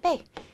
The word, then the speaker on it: 被: 발음은 빼.